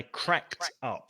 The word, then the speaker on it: cracked: I cracked up. So it's the t sound when it's ed.